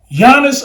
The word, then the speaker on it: Giannis: can't believe that but Giannis an tumbo you got the G but the g is silent you don't say the G watch this Nicolo yic